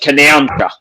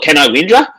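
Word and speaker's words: Canowindra: d r a I've The N O W I N part is pronounced N O U N.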